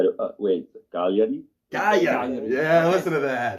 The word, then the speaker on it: Cagliari: Cagliari.